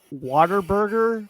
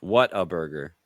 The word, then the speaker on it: Whataburger: Yeah, like water and then burger. That definitely was not water. I know. I'm just being funny. Sorry, I'm just being- water water burger.